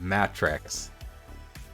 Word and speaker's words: Matrex: Now on that note, we've got one last Maverick who is Matrex. Spelled with 2 T's. Like mattress, except with an X on the end.